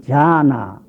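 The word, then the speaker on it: झान: 인도 쪽의 말로 지방 따라서 고장이 넓기 때문에 어떤 쪽에서는 디귿자 발음을 넣어서 디아나, 또는 어떤 쪽에서는 지읒자 발음 넣어서 자나, 이렇게 하는 자나, 지방 따라서 잔해서 마무리하는 것도 있고 자나까지 똑똑히 붙이는 지방이 있어 해가지고, 이 선하는 말은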